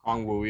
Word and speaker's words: Okongwu: Say his last name again. Okongwu. Is it am I saying it correctly? Okongwu, yeah. Cool. Okongwu.